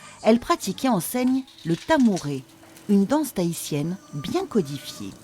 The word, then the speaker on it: tamouré: pratique et enseigne le tamouré une danse tahitienne bien codifié ça s'écrit tamuré s'est prononcé à morée on maintient les anges